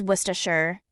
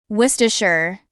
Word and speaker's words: Worcestershire: The correct pronunciation of this word is Worcestershire. Worcestershire.